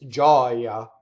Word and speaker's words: gioia: Now, the word for joy is gioia. It's an open O, right? And yeah, the reason for this is the accent ends on the O when it's the noun, gioia.